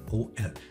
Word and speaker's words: 0L: Most people pronounce that OL.